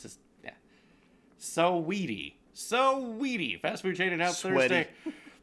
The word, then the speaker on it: Saweetie: Saweetie. Yeah, Saweetie. I don't know why I want to say Saudi.